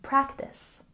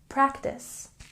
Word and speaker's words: practice: And we can check our pronunciation here with a stress on the first syllable in practice, practice.